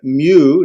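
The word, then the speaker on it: μῦ: The mu, it's not called an M, it's a mu, as in, how muse. I don't know, that's not right. And pronounced like an M, like mom, right? Mom.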